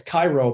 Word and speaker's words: Cairo: pronounced that way too there's a k Koo in Illinois that's Cairo but we pronounce it Koo yeah which